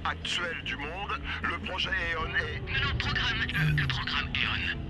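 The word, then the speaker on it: AEON: Non, ça se prononce Eon. Eon comme est ta sœur?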